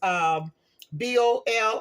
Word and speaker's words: bolillo: And this is called, I don't know if the right pronunciation is bolo or bolio. It's Bolillo.